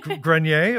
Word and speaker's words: Grenier: Eric Grenier, the poll tracker at the CBC, if I pronounce his name right. Grenier, but close. Grenier, of course.